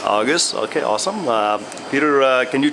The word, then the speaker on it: Augis: Augis. Augis.